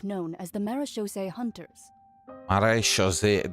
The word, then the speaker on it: Marechaussee: Marechaussee, that's how it's pronounced, huh? I was always called them Marechaussee. It's all about the accent.